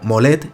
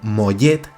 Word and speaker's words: Mollet: Por cierto, Vicente, que sepas que no se pronuncia, no se dice como Molet, sino como Mollet, con Y, ¿no?